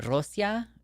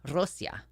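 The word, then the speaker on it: Россия: separate dialect of French we should be calling Russia Rosia it's an S not a sh Rosia that's how they say it right and you've got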